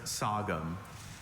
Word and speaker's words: sagum: Are there any alternate pronunciations? Just sou. Sum.